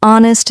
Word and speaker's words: honest: For example, in words like no, the K is silent, honest, the H is silent, and castle, the T is silent.